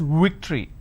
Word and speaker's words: victory: they pronounce this as victory now remember what I said if you have the letter V you need to bite your lower lip it's victory and if it's w you